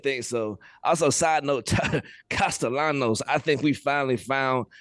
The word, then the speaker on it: Castellanos: Because I've always pronounced it Castellanos when I when I see it. He is pronouncing it the way that Castellanos wants it being pronounced.